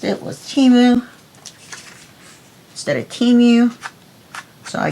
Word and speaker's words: Temu: Got it from Temu. Apparently that's how it's pronounced. I saw it on the Super Bowl commercial. That's the way they pronounced it, was Temu instead of Temu.